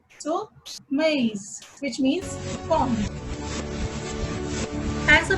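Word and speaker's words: maïs: In this word, there is a trema over the letter I, then we have to pronounce A and I separately. So, maize, which means corn.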